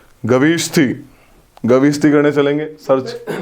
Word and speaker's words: Gavishthi: The term for war in Rig Veda is Gavishati, Gavishthi, गविष्ठी, गविष्ठी करने चलेंगे, search spelling repeat करना।